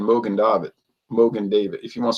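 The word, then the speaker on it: Mogen David: And I'm like, it's not Morgan David because there's no R, you know, it's just Mogen, Mogan David.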